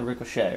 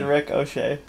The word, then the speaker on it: ricochet: But I was thinking, yeah, ricochet, right? Yes. What are you laughing at? I've just got you trained to say it like an Irishman. Because I said ricochet.